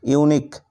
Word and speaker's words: unique: তারপর একই রকম করে দেখো UNIQUE, ইউনিক এর অর্থ হলো অদ্বিতীয়।